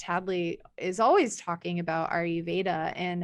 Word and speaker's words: Ayurveda: She says, are you Veda? Ayurveda. Ayurveda.